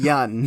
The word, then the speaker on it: Yeun: Yeun. It's pronounced Yeun.